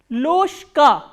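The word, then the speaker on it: ложка: Why loshka? Because again there is a voiced consonant coming before the voiceless consonant. So, what happens is this voiced consonant will be pronounced as its voiceless counterpart, which is sh.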